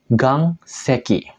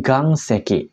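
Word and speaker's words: 岩石: batu isi ya minasang dia akan dibaca Gang seeki Oke Gang seeki yang artinya bebatuan contoh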